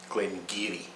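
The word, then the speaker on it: Glen Garioch: number two it's not glenn it's glen gary glen geary this is a distillery in the north north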